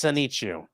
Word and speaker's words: Sonichu: Yeah, I know, but I think it'd be because it's with the chew on the end. If you were in Asian, it'd be Sanichu. I suppose that is correct, yes.